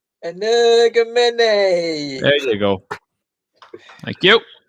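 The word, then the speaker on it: Energumene: It's an Energamine or an Energamene. No, say it properly, please. Energamene.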